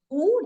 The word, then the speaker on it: who: why who and which who W is silent but still we will